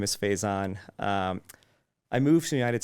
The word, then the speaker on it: Faizan: I get all of these, but Faizan is the pronunciation that kind of stuck with me when I moved here. I still think I've known Faizan for a few years